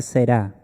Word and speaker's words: será: ¿En qué tiempo está ese será? Con el acento en la A, eso indica futuro.